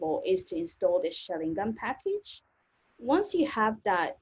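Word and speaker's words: xaringan: quite often is actually how do you pronounce that package and so I've been seeing it a few times so hopefully you got it now which is Sharingan and if there's people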